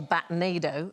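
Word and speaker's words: batnado: what's known as a batado it's like rhymes with a tornado okay so numerous batado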